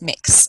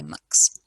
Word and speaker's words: Mx: And some of us use the title mix, which is spelt MX, instead of Mr. or Ms. And that's pronounced mix, and some people might say mux.